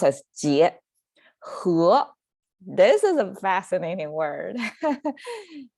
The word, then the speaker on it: 结: the left side what it means it's tight pronounced as jie this is a fascinating word whoever learns geometry